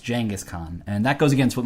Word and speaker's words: Genghis Khan: I said Genghis Khan, and he said, listen, I'm not trying to be a jerk, but as far as I know, it's actually pronounced Genghis Khan.